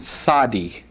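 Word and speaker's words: צדי: The 18th letter is the sadi, pronounced sadi. All right, the sadi, you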